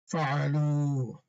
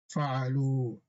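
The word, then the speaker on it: فعلوا: Fa'alu. The alif is silent. Fa'alu.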